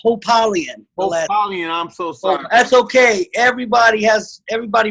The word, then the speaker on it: Hopalien: valley california is no other than coach hop alien how's it going everybody how's it going it's pronounced hope alien that's okay everybody has everybody pronounces it their